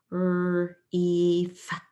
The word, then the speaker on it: grief: In number 5, I see I and E working together to make a long E sound or a long I sound. But I'm always going to try E first. It's more common to be an E sound.